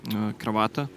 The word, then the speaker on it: kravata: How do you pronounce Croatian in your native tongue? Kravata.